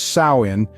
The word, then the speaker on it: Samhain: Halloween we know today Sam Hayne pronounced as sain marked the end of